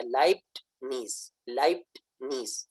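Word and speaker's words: Leibniz: لائبنیز کا اصل تلفظ کے اندر ٹے کی آواز معمولی سی موجود ہے، لائبٹ نیز، یہ اس کی آواز کے اندر اثر پایا جاتا ہے، معمولی سی ٹے کی آواز آتی ہے. لیکن انگلش کے اندر ٹے کو سائلنٹ کر کے، یعنی ٹی کو سائلنٹ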